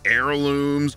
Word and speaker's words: heirlooms: There's plenty of words with a silent H. I mean, you got heiress, heirs, hourly, honestly, heirlooms, homage, hors d'oeuvres.